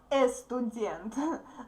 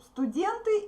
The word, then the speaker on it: студент: So, don't pronounce "e" in the beginning, please. I know that you have similar words but that start with "e" sound. No, here we say "s" first, okay? Not "estudent," but "student."